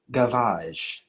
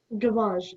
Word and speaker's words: gavage: Your word is gavage.